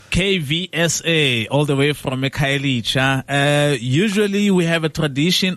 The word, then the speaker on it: Khayelitsha: KVSA, all the way from Khayelitsha.